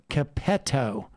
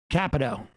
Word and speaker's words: Capito: The junior senator from West Virginia, Shelley Moore Capetto. Okay, thank you. Capito.